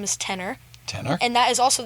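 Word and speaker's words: Tener: off the ground called Tenor Records. Okay. Now, this is spelled T-E-N-E-R, and not like the singer, T-E-N-O-R.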